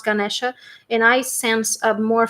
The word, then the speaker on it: Ganesha: I have Lord Ganesha for you. You didn't see anything, right? It was too bright. Right? It's like Lord Ganesh. I pronounce Ganesha, and I sense a